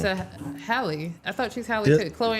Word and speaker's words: Halle: They're not twins, but they're Chloe and Haley. Is it Haley? You're saying it wrong. It's Hallie.